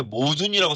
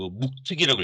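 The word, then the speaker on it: 冒頓: 이게 한서의 흉노전인데, 이게 모순이라고 써있지만 이걸 한자로 읽을 때는 이제 그 묵특이라고 읽어야 됩니다.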